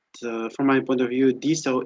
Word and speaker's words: DeSo: my point of view, DSO is the right version of pronunciation because it's decentralized social. So it comes from decentralized, yeah? So D.